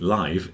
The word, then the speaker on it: live: cuz I realized that people think live is the same as life the second one I said life with a f yeah life with a f but live with a V is live with a voiced thing the same as alive